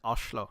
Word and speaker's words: Oslo: I found out Oslo is pronounced Oslo if you're actually living there.